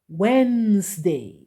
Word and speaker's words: Wednesday: with why it is Wednesday and remember how you write it is not the same way you read it okay it is pronounced Wednesday remember that okay and